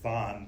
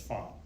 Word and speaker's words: von: Clemens Von medernick now in German the v's are pronounced F so it looks like to us like Von but it's fun so Clements found medernick